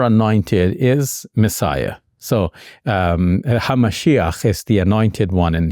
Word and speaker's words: hamashiach: one in Hebrew and from that we get the angiz pronunciation Messiah because us English-speaking people we can't say words like hamashia right it's too much of a strange so Messiah we smooth it off um now H the